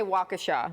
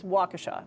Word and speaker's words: Waukesha: Uh, I'm gonna say Waukesha. Very good. It looks like it could be like Waukesha. It's Waukesha Waukesha but only because I've heard right before, yeah.